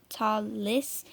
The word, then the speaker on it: Talis: my last name but my name is pronounced tallis after a year of